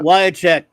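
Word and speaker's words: Wiacek: Wyachek, as they pronounce his name, Bob Wyachek.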